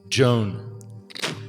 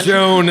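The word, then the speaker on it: Jowne: It's spelled J O W N. Joan. Joan. Yes. It's a fantasy. That's how they spell Joan in this fantasy.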